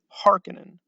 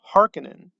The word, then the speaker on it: Harkonnen: case like the baron some people again they do they say hearkening i say harkonnen if you want to go with harkonnen great if you want to go with harkinin that's also great there's just going to